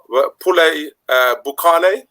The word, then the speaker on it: poulet boucané: So in this recipe, my French, Kelvin, you can correct me if I'm wrong. Poulet boucané. Yeah, poulet boucané. Yeah. Boucané, right? Well pronounced.